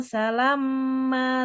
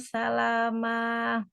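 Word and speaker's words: سَلَامًا: salama illau salamma salama bukan salamma dia enggak ada tasdidnya mimnya nya ya.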